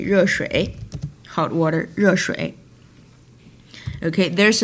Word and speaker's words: 热: It's kind of like French word je, but you put more stress on so it will be 热. E at the end. Where's sorry. Sorry. It's supposed to be this one. 热. So if E at the end and it only combined with the initial, which means there's no other vowel in this syllable, and it always pronounced like a, okay?